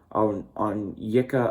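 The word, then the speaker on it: Onyeka: On Yika Okongwu, I believe. Is how you pronounce his name.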